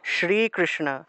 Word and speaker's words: শ্রীকৃষ্ণ: ফেলি শ্রীকৃষ্ণ আমরা শ্রী হবে না এটা হবে শ্রীকৃষ্ণ শ্রীকৃষ্ণ কৃষ্ণা মূর্ধন্য মূর্ধন্য আর নিচে মূর্ধন্য সাথে